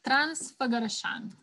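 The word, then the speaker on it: Transfăgărășan: through the mountains again it's transfogarashan are the mountains okay just think of transfer garrison in english try to pronounce it quickly and you'll get it i've never heard the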